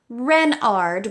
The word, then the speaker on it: Renard: Renard with the accent on the Ren."